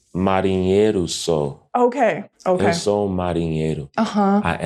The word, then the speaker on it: marinheiro sou: I once heard a debate from two Karpatistas about how to pronounce marineo sao. The way that I learned it is marinheiro sou.